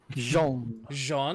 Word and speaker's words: Jean: But, well, to be fair, my hyphened secondary name is John, albeit spelled in a very weird way. Jean.